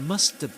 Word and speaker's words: must have: The H here is dropped gets dropped. And this auxiliary verb when when not stressed is usually pronounced as h or h have.